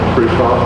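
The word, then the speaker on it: Kruithof: For those of you that don't know me, my name is Trutoff. I'm the city administrator here in Branson. Last name is spelled K-R-U-I-T-H-O-F.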